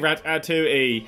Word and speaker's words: Ratatouille: Rat atoui. Hooray. It's weird that you have a film that you have to have the pronunciation underneath, but that's the French for you.